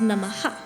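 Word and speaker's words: namaḥ: h with a DOT so it's pronounced namaha with a little a at the end even though the a is not written similarly Loca the first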